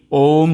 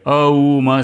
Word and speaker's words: ओम: उ म और मोन इनका उच्चारण भी ओम से ही होता है अऊ म से नहीं यह चेतना ही ब्रह्म